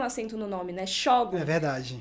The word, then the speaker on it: Xógum: acento no nome né shogo verdade a pronúncia que o livro ficou aqui no Brasil foi essa e esse livro é